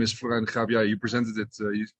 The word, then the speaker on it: Florijn de Graaf: um my name is floran Javier you presented it you pronounced it correctly and I'm an engineer specialized